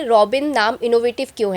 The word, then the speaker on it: Rawbin: But actually spelling है आर ए डब्ल्यू बी आई एन तो it's called रबिन व्हाई रबिन because अ जो भी इसमें आप डालते हैं वो एक्चुअली रॉ बन जाता है।